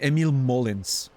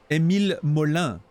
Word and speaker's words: Émile Molin: What do you mean, Emil Mullins? Émile Molin. Please. There's an accent on the E. It's clearly a French name.